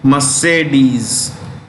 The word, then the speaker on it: Mercedes: That's how you pronounce it. Mercedes.